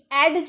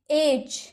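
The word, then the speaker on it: edge: हेज यानी कि झाड़ी एज एज एडज नहीं एडज नहीं एज किनारा तो डी कब साइलेंट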